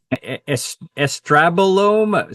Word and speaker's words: estrobolome: Do I pronounce it correct? Estrabolome.